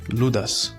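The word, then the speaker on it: Ιούδας: And this one of a little Jewish boy named Judah, in Greek pronounced Loudas.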